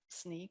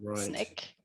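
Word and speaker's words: Snyk: The name of the company is actually Sneak, which is a little tricky, pronounced Sneak or Snick, depending on who you're talking to in the organization.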